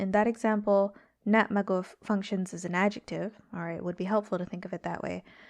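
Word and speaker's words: na' magof: So in the first example, the stress is on the first syllable, nat maguf. And in the second example, the stress is on the second syllable, nat maguf, if you can hear that.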